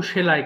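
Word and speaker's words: sew: ভার টুক পারটেকেন সো সেলাই করা কিন্তু এটা অনেকে ভুল করে সি ইউ বলে ফেলে যেহেতু এস ই ডব্লিউ আছে কিন্তু এটার সঠিক উচ্চারণ হবে সো সো মানে হচ্ছে সেলাই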